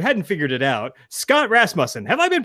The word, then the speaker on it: Rasmussen: So now we have, if you hadn't figured it out, Scott Rasmussen. Have I been pronouncing that right this whole time?